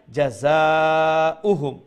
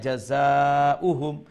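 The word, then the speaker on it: جزاؤهم: ফয়লা আপনি ফয়লা খালি ও দুইটা অক্ষর একলগে মিলাইয়া কইবা জাযা জাযা জাযা, এরপরে উহুম উহুম আলাদা, এরপরে দুই অংশরে মিলাইয়া জাযা উহুম অমলাহান। তো গিয়া যখন আপনার আয়ত্তে আইব সঠিকভাবে উচ্চারণ আইব, এরপরে কতবার জফিলিবা সঠিক করিয়া জাযা উহুম জাযা উহুম জাযা উহুম।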